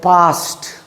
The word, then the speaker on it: passed: ed, just see, ed, this ed gives the sound of T generally. That means if a word ends in ed, that ed generally gives the sound of T. Just see. PASSED, it will pronunciated as past, not past.